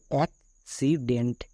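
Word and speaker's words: accident: কারণ সি এর পরে ওয়াই থাকলে দন্তস হই, এখানে সি এর পরে সি আছে তাই হলো কো, এবং নেক্সট সি এর পাশে আই আছে মানে এর উচ্চারণটা দন্তস হবে, তাই হলো অ্যাক্সিডেন্ট। অ্যাক্সিডেন্ট।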